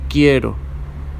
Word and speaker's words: quiero: which means I want queso quiero ok the U is silent as we saw with